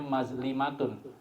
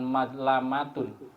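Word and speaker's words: مَظْلِمَة: sisinya pernah berbuat zalim bacanya mazlimatun bukan mazlamatun mimnya di Fathah lamnya di kasrah mlimatun kezaliman itu ada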